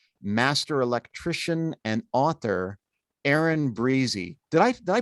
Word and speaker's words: Briese: But Aaron Briese Briese. is how our family pronounces it.